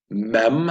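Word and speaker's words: מם: is Lament l sound mem as in mom noon but not none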